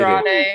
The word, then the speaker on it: Andrade: The Mark Davis and Andre El Idolo. Andrade El Andre El Idolo. I know Idolo, bro. Andre. On You kidding? Andrade.